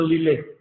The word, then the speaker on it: Lille: Por ejemplo, la primera se pronuncia Lille. Y se escribe Lille.